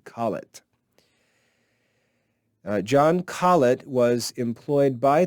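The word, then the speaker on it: Colet: name is john collett john collett c-o-l-e-t call it john collett was employed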